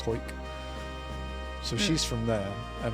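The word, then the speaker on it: Hawick: called um yeah called hoik spelled h a w i c k but pronounced hoik so she's from there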